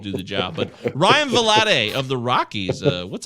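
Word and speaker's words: Vilade: stuff but ryan uh i think it's valade valade i believe his pr is pronounced ryan blade uh pronunciation he was he was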